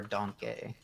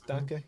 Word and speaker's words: Danke: It's Danke. Yeah, that's German for thank you. Right, but I always pronounce it as like Donkey, like putting extra emphasis on the E.